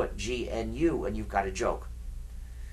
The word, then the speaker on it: GNU: However, when it's the name of our system, please do not follow the dictionary. If you talk about the new operating system, you'll get people confused. You see, we've been working on it for 25 years now, so it's not new anymore. But it still is GNU.